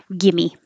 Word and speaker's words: gimme: and for some reason we spell it with an ie gimme gimia give me up going from the E Gimme your tongue is very high and then it comes down for an uh give me a Excuse